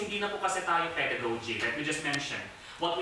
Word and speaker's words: pedagogy: What we do among our children in this exact classroom is pedagogy. Pakisabi po, pedagogy. Pedagogy. Pedagogy. Pedagogy. Pedagogy. Pedagogy. Yan, paglabas po natin, pedagogy. It's supposed to be in the first syllable, pedagogy.